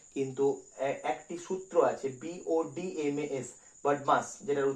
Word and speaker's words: BODMAS: তাহলে আমাদের সরলের অঙ্ক করার সময় সর্বপ্রথম কিন্তু একটি সূত্র আছে, BODMAS, বডমাস, যেটার উচ্চারণ, এই সূত্রটি কিন্তু পরিষ্কারভাবে আমাদেরকে বুঝে নিতে হবে।